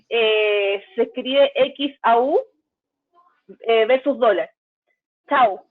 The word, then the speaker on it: XAU: Chau, ya si lo pronunciamos ahí con la X.